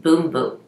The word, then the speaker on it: bumbum: the Brazilian it says bumbum cream but I looked on their website and they pronounce it boom boat great I think it's